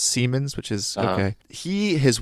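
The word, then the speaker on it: Siemens: And just recently in New York, the Spanish the Spanish CEO, not like the main CEO of Seammens, I think it's pronounced, it's German, it's not Simons, Seammens, which is okay.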